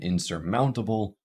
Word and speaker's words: insurmountable: on graph telegraphic and in insurmountable we can hear primary stress on Mount insurmountable insurmountable it's not insurmountable it's not ins surmountable it's not insurmountable and it's definitely not insurmountable so primary stress is on Mound there and again we can